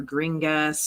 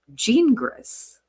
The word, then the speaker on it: Gingras: As we've all been saying, Gingras or Gringas or whatever we've been calling him, he pronounced his name as Gingras.